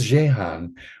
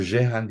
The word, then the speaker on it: Jehan: In the 15th century Roman de Jehan de Paris, Jehan is, or it's actually pronounced Jean in French, is the assumed name